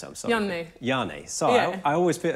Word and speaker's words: Janne: How do you pronounce it? I'm sorry. Janne.